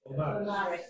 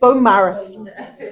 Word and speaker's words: Beaumaris: I was going to look before I before I read this, uh how to pronounce Beaumaris. Am I saying it correctly? Beaumaris. Beaumaris.